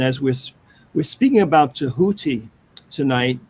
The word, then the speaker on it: Tehuti: And and and on that note, I did want to ask you this question as we're we're speaking about Tahuti tonight. Some people pronounce that jahuti.